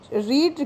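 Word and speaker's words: read: रीड की तीनों form में स्पेलिंग सेम होती है, प्रोनाउंसिएशन डिफरेंस होता है केवल।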